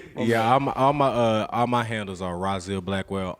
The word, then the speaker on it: Rahzil Blackwell: Yeah, all my handles are Rahzilblackwell, Rahzil Blackwell. You know, 4 syllables, amazing name.